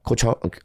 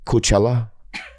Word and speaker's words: Coachella: Coach I went to I went to Let me say it right. Yeah, I got it. Have you ever been to Coachella?